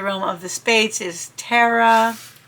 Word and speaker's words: Terra: of the spades is Terra, or it says roll your R, Terra.